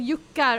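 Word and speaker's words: juckar: It sounds like I'm saying yucca, and in Swedish, yucca means to hump. Huh? I'm not kidding. Gråtjucka. What the fuck? No, it's spelled J-U-C-K-A-R. But yuckar, otherwise it's yucca, it's just without the R at the end.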